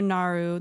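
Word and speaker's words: Naaru: But anyway, so the Naru, it's pronounced Naru, is a race of living sentient energy beings made up of scintillating holy energies.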